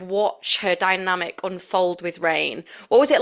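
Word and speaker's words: Raihn: to pronounce his name is it Rain r rain rain okay I didn't realize that it was I get some people being like is it Ryan and now I understand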